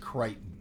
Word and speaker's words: Crichton: It's pronounced Crichton.